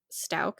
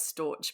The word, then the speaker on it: Stauch: we're gonna talk about Ganon Stout is how you say it actually right yeah I still always read it as Storch but it's not Stout I read it as stouch uh we're GNA talk